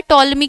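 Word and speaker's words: Ptolemy: तो टोलमी के द्वारा पी साइलेंट होता है टोलमी की स्पेलिंग में इंग्लिश मीडियम में टॉलमी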